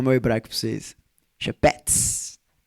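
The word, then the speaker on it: חפץ: Chapets. Lindo demais. C H E P H E T SP jeito certo de falar, mas Shepets é o que tá escrito.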